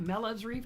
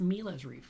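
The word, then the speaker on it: mreef: how to pronounce it it's not melev's Reef it's m Reef because it's about me I'm kidding it just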